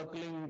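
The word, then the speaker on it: क्लीं: की मात्रा और बिंदी उसका उच्चारण होगा क्लिंग ग ग की ध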